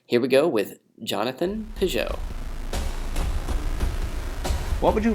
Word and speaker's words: Pageau: Pageau. Yeah, it's hard to say in English because you don't usually have an ah sound and a je sound next to each other.